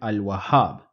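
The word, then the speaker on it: الوهاب: us compare ass and Al wahab in Al wahab I am pronouncing the lamb I am saying Al so I will look for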